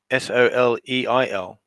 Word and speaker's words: soleil: Yeah, or soleil if you want to pronounce it this way, but trust me, the French pronounce it soleil. As if, that L isn't there on the end.